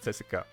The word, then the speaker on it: CSKA: my home team is leki Sofia and we pronounce it cesa so this is cesa sopia and cesa 1948